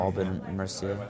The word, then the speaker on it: Aubin-Mercier: Am I pronouncing that correctly? That sounds correct to me. Aubin-Mercier.